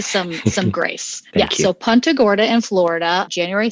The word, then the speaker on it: Punta Gorda: how you say it is it pronounced punter it is contogora i've been saying punta it is punta gorda which is like weird yes like punching uh you know football etc it was never punta gordon was it it was